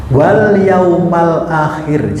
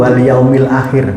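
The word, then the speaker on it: وَالْيَوْمَ الْآخِرَ: Wal yaumal akhir. Jangan keliru. Wal yaumil akhir. Banyak jemaah saya di beberapa tempat ketika saya jarkan itu mesti bacanya wal yaumil akhir. Betul kan? Kan biasanya walimil akhir. Betul. Itu biasanya. Ini tidak biasanya. Kapan membaca yaumil akhir? Kalau depannya ada huruf jer.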